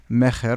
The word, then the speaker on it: Mejer: We're sitting here with Meyer. Did I pronounce that right? Mejer.